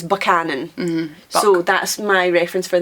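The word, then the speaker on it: Buchanan: banan the name is lots of people will pronounce it bucanan which is wrong it's banan mhm so that's reference for that one but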